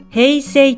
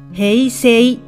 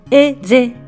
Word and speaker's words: 平成: なってしまいます理由としてはフランス語のアッシュは発音されずおまけに母音に挟まれた単独の S は Z の音に変わるという規則が